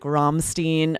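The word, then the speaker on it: Rammstein: musicians and band names you can definitely say in the language or accent the band would use right the examples we gave were like Romstein a German band or Editp you could definitely still say that with more of an American accent and say Edith PF both are going to be counted as correct pronunciation.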